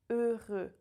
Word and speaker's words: heureux: The H is silent, the X is silent. Heureux. Je suis très heureux.